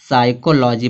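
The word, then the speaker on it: psychology: तो जब पी से सॉरी एस से पहले जब पी आएगा तो पी क्या हो जाएगा? साइलेंट हो जाएगा। इसको क्या पढ़ेंगे? साइकोलॉजी पड़ेंगे।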